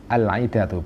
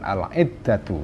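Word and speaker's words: العدة: Al-idatu bacanya al-idatu bukan al-iddatu ya.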